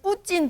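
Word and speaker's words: 뿌찐: 앞서 보신 것처럼 전했습니다 울라지 빛이 부진 동 동지를 뜨겁게 영접하다 아 북한 진이라 발음해요 진 그 보도된 아 그러니까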